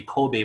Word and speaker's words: Kobe: By the way, the correct pronunciation is supposed to be Kobe Bryant, not Kobe Bryant. It's supposed to be Kobe. If you ask his parents, his name Kobe actually coming from the city in Japan. Now, don't ask me why they chose that. Okay, but that's the parents' right? And for that reason, his name's supposed to be pronounced Kobe instead of Kobe.